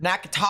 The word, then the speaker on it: Natchitoches: Nakatosh. Southwestern Wind Never Parish mind, it's in not north central Nakatoches, it's Louisiana.